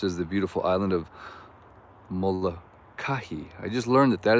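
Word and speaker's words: Molokaʻi: that of course is the beautiful island of mola kahi i just learned that that is the right way to pronounce it it's not molek or whatever i was saying it's molokah yep i'm getting i'm getting corrected here and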